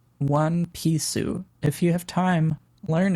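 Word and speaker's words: ワンピース: You pronounce this One Pisu.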